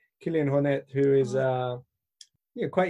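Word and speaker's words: Kilian Jornet: kind of intensive obsessive background there's people like Killian Hornet is how I've since realized it's supposed to be pronounced Killian Hornet who is uh you quite easygoing with it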